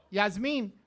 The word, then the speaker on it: Yasmin: Yasmin. That's right. It's pronounced Yasmin.